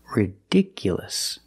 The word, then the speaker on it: ridiculous: Ridiculous. The stress moved to the second syllable. Ridiculous. So the last two syllables are short.